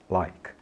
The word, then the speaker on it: like: inglês que é like apesar de like terminar com Ezinho aí no final esse e não é pronunciado em inglês tudo bem tá aí grafado tá escrito mas não é pronunciado Então em vez dizer eu gosto dizer I like né diga I like like a gente não pronuncia esse e no final né então diga like like